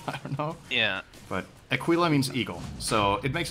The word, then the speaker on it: Aquila: It's pronounced Aquila, and it's Latin for eagle.